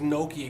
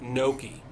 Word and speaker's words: gnocchi: Like gyro, and they just So like, it's not gnocchi. It's gnocchi. Gnocchi. Gnocchi. and gnocchi. That's how you say it.